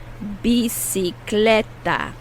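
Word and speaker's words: bicicleta: out loud practice be the first c is pronounced like an s the second c is pronounced like a k b c cl okay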